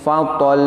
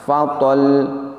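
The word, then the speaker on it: فَطَلٌّ: Praktek yang kurang sempurna contohnya demikian, fatol ditahannya terlalu lama, ataupun tidak ditahan sama sekali sehingga bunyinya putus. Demikian fatol. Yang benar adalah fatol dengan ditahan sejenak. Tujuannya adalah untuk menyempurnakan makhraj, kemudian kita mengeluarkan sifat dari huruf lam tersebut.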